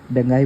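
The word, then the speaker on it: بنغازي: Gulf of Sidra में क्या है, बेंगाई पोर्ट है, बेंगाजी पोर्ट, बेंगाई पोर्ट, ऐसे बेंगाई उसको प्रोनाउंस करो।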